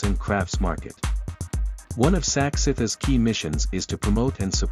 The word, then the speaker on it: SACICT: Craft Bangkok 2022 was organized by Sak-Sith, pronounced Sak-Sith, and the event was held at BITEC Bangna Exhibition and Convention Center from 8 to 11 September 2022.